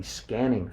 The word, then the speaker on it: SQANNING: yourself and that's it that's scanning it's spelled sqa NN i n g scanning is a relaxation